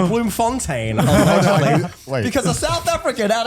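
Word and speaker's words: Bloemfontein: Oh really the correct pronunciation is Bloom Fontaine because a South African at a convention came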